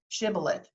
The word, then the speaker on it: Shibboleth: talk about that word Shibboleth that's the actual hebrew pronunciation of it from the book of Judges and in the book